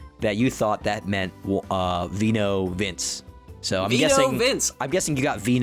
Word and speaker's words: Vino Vince: I gave you a title, which was Vino Vincenze. What is it? How do you say it? Vino Vince, which means wine.